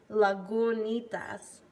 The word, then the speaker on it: Lagunitas: but it's they actually show you how to pronounce it. Lagunitas.